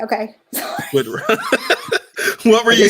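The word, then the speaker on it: Wittrock: Yes, Whitrock. That's how you say it. Okay. Whitrock.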